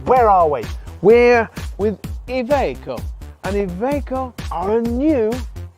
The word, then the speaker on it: Iveco: We used to call them Iveco when I was a boy, but now they're Iveco. Iveco.